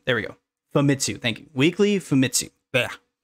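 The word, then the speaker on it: Famitsu: weekly uh oh my God I I always pronounce this incorrectly uh fat mitsu femitsu there we go fumitsu thank you weekly fumitsu but we celebrate that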